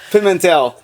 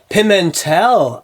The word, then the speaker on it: Pimentel: Did I pronounce that right? Yeah. I guess that's a no. Pimentel. Pimentel.